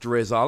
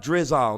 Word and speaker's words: Drizzile: a look at drizzle I think it's pronounced drizzle I'm gonna be honest